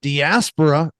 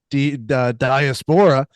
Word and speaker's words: diaspora: They were pronouncing diaspora, which I have never heard it said that way. It's supposed to be diaspora.